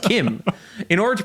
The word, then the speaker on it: CHIM: order to achieve Chim, or how it's actually pronounced Kim. That I may not know English words, but I know fictional languages. It's pronounced Kim.